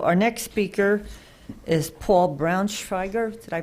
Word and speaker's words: Braunschweiger: So our next speaker is Paul Braunschweiger. Did I pronounce it correctly?